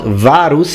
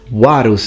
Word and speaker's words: Varus: it italian at pronunciation the v is not varus like you would say an ecclesiastical pronunciation it's juaruz it's a will now as